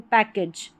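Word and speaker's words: package: पर उच्चारण होगा तो पैकेज, पैकेज। एज करके AGE का उच्चारण है, एज करके नहीं पढ़ना, एज, पैकेज। और ये जो CK है इसको क पढ़ा गया है, साथ में पढ़ा जाता है CK को क, पैकेज।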